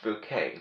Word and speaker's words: Bucket: show is her name is spelled b-u-c-k-e-t so what does that spell bucket right um but consider it almost taboo and considerate a curse word when you're around in Christ because she wants it pronounced bouquet because after all elegant